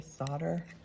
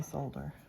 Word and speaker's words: solder: You say solder. You pronounce the L.